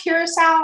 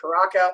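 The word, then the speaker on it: Curaçao: Is it actually pronounced curacao or is it pronounced? Yeah, I've heard curacao, I've heard Caraca, but I think it's curacao.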